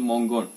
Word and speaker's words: Mongkol: ആയിട്ടുള്ള കാര്യങ്ങൾ പറയാം ഇന്നത്തെ കാലത്ത് ഈ മോംഗോൾ ഇതിനെ മോംഗോൾ എന്നാണ് പറയുക മോംഗോൾ അല്ലെങ്കിൽ മോംഗോൺ ഇങ്ങനെ രണ്ട് രീതിയിൽ ഉച്ചാരണം വരാറുണ്ട് അതിന്റെ സ്പെല്ലിംഗ് നമ്മൾ താഴെ ഡിസ്ക്രിപ്ഷനിൽ കൊടുക്കുന്നുണ്ട്